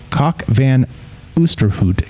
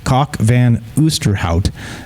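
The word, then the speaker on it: Cock van Oosterhout: however according to professor cockvan oosterhoot yes that's that's real cockvan oosterhout is actually how you say it a professor of evolutionary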